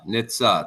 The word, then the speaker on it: Nitze: How to pronounce the last name for me? Sorry, I messed it up. Nitze. Nitze. Like yes.